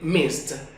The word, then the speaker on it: missed: Miss que significa extrañar al ponerlo en pasado tendremos el sonido de mist mist como una t al final mist Yo te extraño